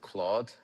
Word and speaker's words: Claude: And the agent back then it was called Claude. Careful the D is silent.